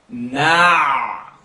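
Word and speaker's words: نعبد: Na'budu. Open your mouth and pronounce the ayn. Don't push it. Lift it.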